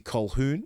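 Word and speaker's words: Colquhoun: Because Cameron McGinness is a workhorse and obviously Jesse Choun. Yes, I pronounced it right for once.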